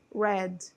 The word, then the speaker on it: read: pronúncia é diferente tá esta pronúncia é como se fosse falar a palavra vermelho tudo bem deste verbo aqui tá na forma do passado Ok então quando você lê esse verbo no passado a pronúncia que você vai utilizar é a mesma da cor vermelha né do vermelho que é Red read então I read Ok e